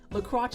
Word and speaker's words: LaCroix: La Croche is the proper French pronunciation.